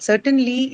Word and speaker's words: certain: It has two syllables, right? Certain. The and then the second schwa. So again, it's a disyllabic adjective, which is certainly going to be marked on with syllable. Where is the stress for this disyllabic adjective? the first part. Yeah, So, the first syllable, right? The first syllable. Cert, the first one, first syllable.